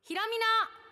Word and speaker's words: 洸美: イターのひろみです。山水に光る美しいと書いてひろみと読みます。